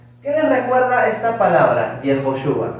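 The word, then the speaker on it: יהושע: Para los judíos actuales, Josué tiene su nombre también. ¿Cómo lo pronuncian ellos? Es particular. Yehoshua, ¿no? Yehoshua. Yehoshua. Josué en hebreo, Yehoshua. Yehoshua.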